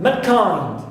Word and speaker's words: mankind: right also i have mankind mankind so i stress second element of here also which is kind and not the first one because these three represent